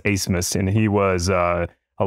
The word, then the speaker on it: Abmas: in Max acemus uh spelled a b m a s but pronounced acemus and he was uh